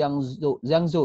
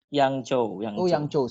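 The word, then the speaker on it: 扬州: Kota kampusnya ada di Yangzhou ya? Bacanya Yangzhou, bener ya? Yangzhou. Yangzhou. Aduh, saya di Taiwan tapi bacanya masih salah, Yangzhou.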